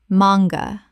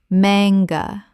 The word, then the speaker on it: manga: Manga. Common mispronunciation. Man-ga. Correct pronunciation. Mang-ga. Two syllables with the stress on the first. The A is short, not long.